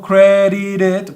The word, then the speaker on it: credited: en este caso digo credited porque cuando tenemos un verbo que es terminado en este sonido de la t yo voy a pronunciar la Ed como ID so credited en ese